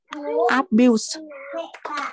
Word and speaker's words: abuse: Substance abuse. Abuse. Abuse. So stressing on the second one.